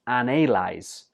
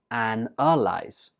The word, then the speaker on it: analyze: is analyze analyze analyze some students pronounce this as analyze because in the spelling it has an A but when we're speaking we just pronounce it and our lies one more time analyze